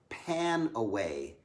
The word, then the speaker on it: PanAway: one is really powerful it's called pan away it's like a pain away but it's spelled panaway p-a-n-a-w-a-y panaway and it's really